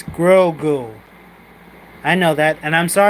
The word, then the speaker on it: Grogu: It's Grogu. I know. It's Grogu. I know that, and I'm sorry I cannot pronounce his name right.